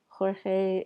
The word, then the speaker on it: Jorge: pronunciation of his name jorge is often anglicized to george um he says i